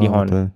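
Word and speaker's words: Dijon: A nama kawasan tu D Horn. A tapi ejaan dia D I J O R N. Tapi kita panggil sebagai De Hond.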